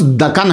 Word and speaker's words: دکن: مطالعہ کر لیجیے۔ دکن، اس کا تلفظ دکن ہے، ویسے دکن کہہ دیتے ہیں۔ یہ اگر عربی مانا